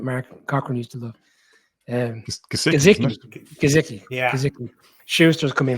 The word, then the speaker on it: Gesicki: I'll let you pronounce Colin. The name escapes me. Big guy that Mark Cochran used to love. Gesicki.